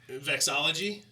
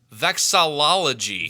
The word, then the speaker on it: vexillology: to say that word vexology i don't think that's how you pronounce it that no i think you're wrong okay it's vexillology vexillology yeah okay well look